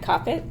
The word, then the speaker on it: Koppett: Can't cop it like stop it.